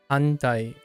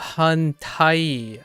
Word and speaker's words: 反対: Handai. Oh. Oh, Hantai.